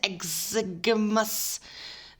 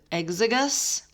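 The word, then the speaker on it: exiguus: yeast called sacro mixes exaggermus that's not how you say it exigus is used to make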